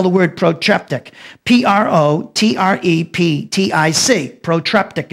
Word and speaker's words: protreptic: parenetic letter let me spell the word protreptic p r o t r e p t i c protreptic it's it's pronounced the word parenetic is p a r